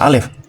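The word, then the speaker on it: אלף: Huruf alef itu sekaligus angka 1, dibaca alef. Dan menurut budayanya, untuk menulis angka 1000 juga menggunakan huruf alef. Hanya saja dibacanya elef, bukan alef lagi, tapi elef.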